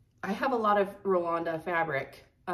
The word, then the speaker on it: Rolanda: And it is Rolanda, everybody. I asked, it came from the horse's mouth herself. I asked her on Etsy how you pronounce her name. And also Amanda, Lucky Chance Stitcher, also asked her in person at Stitch North. And it's Rolanda.